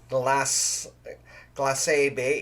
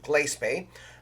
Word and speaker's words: Glace Bay: If you're not familiar with pronunciation of communities, it's not Glace Bay, it's Glace Bay.